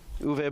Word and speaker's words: Uwe: Uwe? I could believe that's how it's. Yeah, I believe that's how it's pronounced.